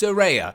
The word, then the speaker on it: Saraya: make sure that I pronounce it correctly it's pronounced suraya she even posted that on her social media